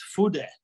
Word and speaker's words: Fude: properly well the the apparently the pronunciation for that is food that's what the pronunciation for it should be uh that's how i was told but of course i don't know japanese it's a japanese word that that means well